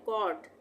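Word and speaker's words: cot: आ रहा है पट उसी तरह से कट यह भी कॉन्सोनेंट है सी टी भी कॉन्सोनेंट है और ओ बीच में है तो दो कॉन्सोनेंट के बीच में जब भी ओ आए तो वहा पर उच्चारण होगा ओ का यानी यहां पर भी हम इसको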